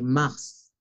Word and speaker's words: Mars: El mes de marzo también se pronuncia la S, Mars.